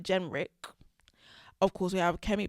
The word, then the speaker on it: Jenrick: So we have Robert Jenkins. Why did I say it like that? Robert Jenrick.